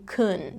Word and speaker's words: can: Now, it wouldn't be incorrect if I did pronounce it that way, but what you'll most often hear in fast speech is that word being reduced to kun.